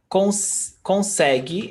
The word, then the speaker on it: consegue: Consegue is the same. Ele consegue falar várias línguas. He can speak lots of languages. Consegue, the U is not pronounced.